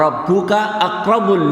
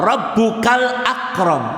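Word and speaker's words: وَرَبُّكَ الْأَكْرَمُ: Ini hati-hati sekalian, kadang-kadang ada imam masjid salah membacanya. Iqra wa rabbuka akramul ladzi 'allama bil qalam. Iqra wa rabbuka akramul ladzi 'allama bil qalam. Ini maknanya ada Tuhan selain Allah, yaitu Tuhan yang memuliakan Tuhan. Tapi yang benar bacanya adalah Iqra wa rabbukal akram.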